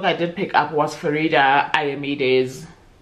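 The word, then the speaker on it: Faridah Àbíké-Íyímídé: The next book I did pick up was Farida Ayamide's Okay, Farida Abike Emid. I was so happy with myself because I was like, I said it right for the first time, but it was her Where Sleeping Girls Lie.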